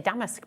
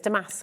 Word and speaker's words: damask: I always say damaskque, but it's Damas.